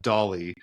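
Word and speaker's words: DALL-E: interesting too because I've heard uh people refer to doll um or or D A L L E3 they call it Dolly uh so I think it it just depends on on how you how you say it so if you're wondering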